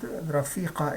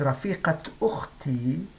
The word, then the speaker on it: رفيقة: And as we see, although it's ta marbuta, but we pronounce it as ha, as in maqlama or daqiqa. We do not pronounce the ta here unless we connect this word to the next word.